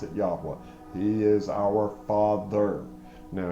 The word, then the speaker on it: Yahweh: That's how I pronounce it. Yahweh, Yahovah. Some people pronounce it Yahweh, whatever. I pronounce it Yahweh.